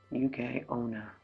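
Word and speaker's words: yuki-onna: thick shell making them highly resistant to damage pronounced UK onna the yokai women enveloped in a haze of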